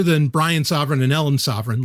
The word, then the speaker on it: Sovryn: It's not sovereign as in like sovereignty, but it's Sovryn, which, by the way, like I'm, other than Brian Sovryn and Ellen Sovryn, like we're the only people with that name.